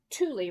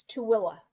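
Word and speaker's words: Tooele: about manway and hurricane we also have a city here spelled t o o e l e so it looks like Tuli right nope it's Tua interesting I grew up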